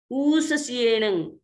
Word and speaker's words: ऊससियेण: तस्स उत्तरीकरणेण पायच्छित्तकरणेण विसोहीकरणेण विसल्लीकरणेण विसल्लीकरणेण पावाणं कम्माणं निघायनर्थाय ठामि काउत्सर्गम् अन्नत्थ ऊससियेण नीससियेण, ये भी दीर्घ है आप देखिए, ऊ नी ऊससियेण नीससियेण खासियेण क्षीयेण जम्भायेण उड्डुयेण वाय